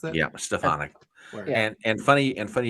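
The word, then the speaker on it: Stefanik: AES she's awesome stonic is that how you pronounce it yeah stefanic and and funny and funny you bring up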